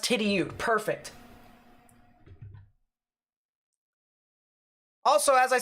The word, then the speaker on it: Tidioute: Tidioute, so it's pronounced Tidioute.